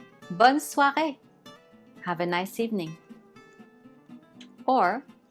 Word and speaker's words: bonne soirée: Notice how there is a little accent on the E. You will see this accent is called accent aigu. And you see it on a lot of words. When adding this accent, the pronunciation turns the letter E into A.